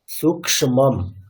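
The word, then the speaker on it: সূক্ষ্মম্: ওই ক্ষীয়কারের উচ্চারণটা কিন্তু এবারেও হয়নি, মানে সূক্ষ্মম কেমন, সূক্ষ্ম মানে ক্ষয়ময় না ক্ষয় শয় হচ্ছে সূক্ষ্ম।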